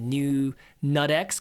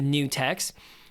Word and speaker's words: Nutex: I kept calling it new Nutex because that was fun to say. But new text.